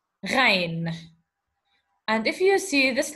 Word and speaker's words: غين: What we're going to do now is that we have to know that this is the letter Ghain, and we pronounce it Gha, okay? Ghain, and we pronounce it Gha.